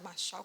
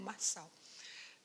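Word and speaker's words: Marshall: ou seja Marsal né pode tanto pronunciar Marchal como Maral eh então foi ele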